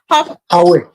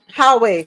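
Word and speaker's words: Huawei: how we pronounce it the h u a w e i we how we that's phone smartphone hway hwayi smartphone thank you hwayi smartphone yeah Payway hway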